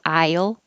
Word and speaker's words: I'll: Yes, the perfect pronunciation of I will contracted to I'll will sound like aisle, like grocery store aisle.